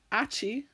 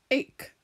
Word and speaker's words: ache: Ache is tricky because it actually has CH in the middle, but it is not achy or atch, it is ache. So that's how this one is tricky because we have a silent letter.